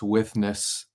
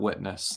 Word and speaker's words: withness: of God's graceful withness that's withness not witness that's not a mispronunciation God's withness and I